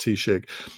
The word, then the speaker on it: Taoiseach: It's spelled T-size, but it's pronounced Taoiseach.